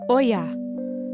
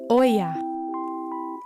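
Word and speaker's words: olla: good question in Spanish the way we say pot is Oya let's all say it together Oya Oya Oya Oya excellente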